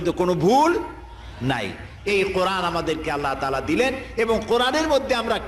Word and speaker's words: আল্লাহ: করতেছেন আমি কি বলতেছি যদি বলি আল্লাহ তাহলে এটা অশুদ্ধ আল্লাহর নামটা হচ্ছে আল্লাহ বলতে গিয়ে মুখটা গোল হয়ে যাবে বলেন তো আল্লাহ মহব্বত